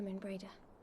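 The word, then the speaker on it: Moenbryda: Not since Not since after Moon Brada. That's how you pronounce her name.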